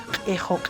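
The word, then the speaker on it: qhixu: Obviamente en la escritura está así, pero se dice ejo, ejo, porque en la escritura no hay e.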